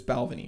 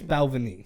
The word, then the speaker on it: Balvenie: but it's so it's Balvenie right yeah you kept saying Belleville Valvoline now it's Balvenie Balvenie Balvenie double wood